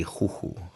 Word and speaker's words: Juju: if we we were if we were pronouncing it like in Spaniard it would be hoo cuz it's j j correct but no it's